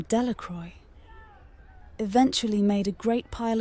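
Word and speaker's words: Delacroix: Jones and Dicky deacro the villagers pronounced this name delacroy eventually made a great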